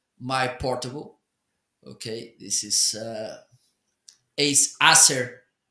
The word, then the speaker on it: Acer: Okay, this is Acer. How do you call it? Acer.